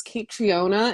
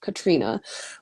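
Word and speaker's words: Caitríona: The spelling, coincidentally, when I first wrote it, I thought it was Kate Triona, and I thought that was so pretty. But I am trying my best to pronounce it the way that it's meant to be pronounced. And her name is, Kate Triona is actually pronounced Katrina.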